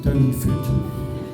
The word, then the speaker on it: Doonfoot: And a few months later, in January 2020, Zander and Lydia finally moved into their first home together in Doonfoot, but it's now actually pronounced Downfoot with Henry.